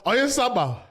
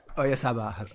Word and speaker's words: Oyarzabal: Oyarzabal. Oyarzabal.